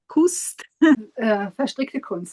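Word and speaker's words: Verstrickte Kunst: It's actually knitting art in English, but in German it sounds as VerstrickteKunst. VerstrickteKunst, it's the meaning of knitting art, yes.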